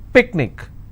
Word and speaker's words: picnic: Picnic, I will stress on pick.